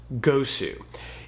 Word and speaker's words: GOSU: I've heard it pronounced GOSU, and I've heard it pronounced GOSU. Either way you like it, this game is awesome.